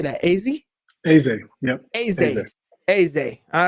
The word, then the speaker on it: Eze: Eze.